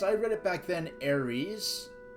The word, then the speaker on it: Aris: or Aris I like Aries better than aith but it's supposed to be pronounced like Aris rather than Aries so I like aith